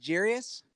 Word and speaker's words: Jeurys: you traded your boy Familia for nothing he's pronounced Jarius yes Jarius that's a great name yeah Jarius